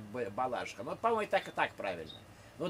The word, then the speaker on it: Балашиха: По-моему, ударение все-таки Балашиха, нет? До конца 80-х было Балашиха, а сейчас, по-моему, говорят Балашиха.